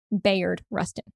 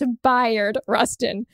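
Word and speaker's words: Bayard Rustin: named after him and for years I have been saying Bay Rustin turns out I've been saying it wrong it's bu Rustin so as we think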